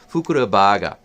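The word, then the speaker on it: ふくらバーガー: This is Japanese, not English, so you can't. I'm not going to say it. don't pronounce it like that, but it's a Fukura burger. Fukura baga.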